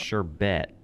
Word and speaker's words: sherbet: sherbet but it's pronounced sherbert it's pronounced sure bet oh my god Karen